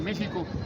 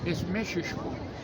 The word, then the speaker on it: Mexihko: No se dice México, esisho.